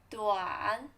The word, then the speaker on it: 短: Short, 短, third tone, 短, 短.